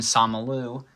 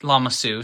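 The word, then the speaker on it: Lama Su: However, Jingo is very good at just missing arm printing and Somaloo uh is just Lamasu, sorry I keep mispronouncing it, is honestly just a great minifigure overall with minor flaws.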